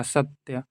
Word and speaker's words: सत्य: तो अंत्य अ का उच्चारण पूरा होता है, जैसे सत्य है तो इसमें पूरा उच्चारण होगा सत्य, ठीक, ब्रह्म, खंड, धर्म इत्यादि।